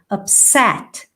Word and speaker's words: upset: rarely upset you don't the stressed syllable is here okay so you need to stress the second syllable upset now if you are